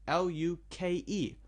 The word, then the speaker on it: Luke: Or my name, L-U-K-E, Luke, Luke is only 1 syllable, but 4 letters.